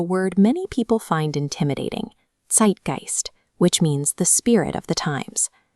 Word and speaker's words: Zeitgeist: However, because it's at the end of the word instead of the beginning, it stays a standard ST sound. When we put those pieces together, we get the accurate pronunciation, Zeitgeist.